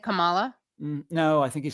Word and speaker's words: Kamala: He mispronounced Kamala's name all through the speech. Oh, he said Kamala? No, I think he said Kamala. Oh, Kamala. Yeah, it's you guys. The way you remember is Mamala, because that's what they call her.